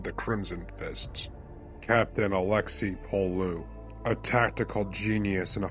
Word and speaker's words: Pollux: At least I assume you're supposed to pronounce his name the French way. It's spelled Alexis Pollux. I just assumed the extra consonants made him French, or Space French equivalent.